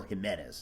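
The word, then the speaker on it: Ximénez: gonna in the Spanish Cardinal Jimenez as we usually say with him spelled with an X and Jimenez was a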